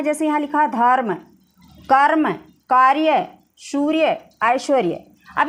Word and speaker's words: धर्म: तो धर्म जब हम उच्चारित करते हैं तो जो रय होता है वो आधा निकलता है, अर, ठीक है। अर का जो है उच्चारण होता है, ठीक है, रय का। तो ये आधा है तो हम इसको यहाँ आधा लिख लेंगे, ठीक है।